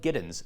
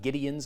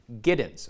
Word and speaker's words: Giddens: We're going to meet one of them on the show today, Kiel Giddens. That's how his name's pronounced. It's not Gideons. I've heard that a couple times. Giddens, okay?